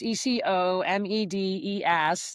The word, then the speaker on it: ecomedes: It's eco- des rhymes with archimedes.